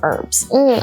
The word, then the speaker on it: herb: In British English, they tend to pronounce it as herb.